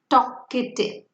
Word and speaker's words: talkative: Talkative, talkative. You can see here, here L is silent.